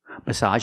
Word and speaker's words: massage: Make the open a sound like hot and stop plus the sound together.